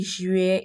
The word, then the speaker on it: juillet: You realize that the T on the juillet is not pronounced, but the T on the août is pronounced.